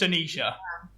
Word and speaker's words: Annishia: your name is it anishia I don't want to get it wrong when we're talking yeah it's a silent I at the end so it's just anishia bit like you know